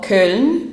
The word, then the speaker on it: Köln: The next city on this list is Cologne. or Köln as they pronounce it in German.